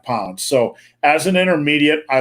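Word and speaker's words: psoas: to strengthen the Sohus is that are you pronounce it Robert so as yeah that's that little muscle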